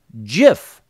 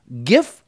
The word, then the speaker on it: GIF: it is called a gif file as in this is a gift to you but without the T so regardless of how